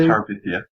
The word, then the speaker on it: Terabithia: Bridge to Tabitha or whatever it's called. Yeah, however you say it. Laurence? Bridge to? Terabithia.